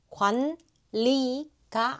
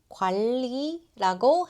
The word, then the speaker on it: 관리: 관리가 아니에요. 관리라고 해요. 영어에 L 발음처럼 부드럽게 넘어가세요.